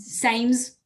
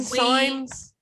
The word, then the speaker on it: Sainz: butchered it. Carlos Sainz. Sames. Same my- signs.